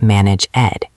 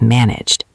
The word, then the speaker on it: managed: Same with managed. It is not manage ed, it is managed. The sound vibrates in your throat.